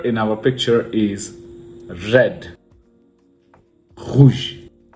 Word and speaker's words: rouge: Rouge. Rouge. You can see the French R, how am I pronouncing it, within the throat.